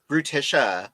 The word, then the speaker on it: Brutisha: Is it Brutisha? Brutisha. Yep. Brutisha.